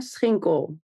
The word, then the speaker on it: Schinkel: honestly did a great job so it's sinko love it and I your company names are